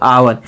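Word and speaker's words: hour: जैसे honest O यू आर क्या पढ़ेंगे दोस्तों अवर यदि 1 घंटा लिखा है तो इसको हम क्या लिखेंगे दोस्तों क्योंकि इसका उच्चारण किस हो रहा अवर मैंने बताया दोस्तों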